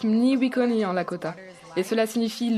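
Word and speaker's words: Mní wičhóni: Ça se prononce Mniwikoni en Lakota.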